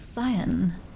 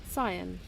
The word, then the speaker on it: cyan: To be frank, I think the way you pronounce cyan is not necessarily how everyone pronounces it. Okay, I now need to look this up. Cyan.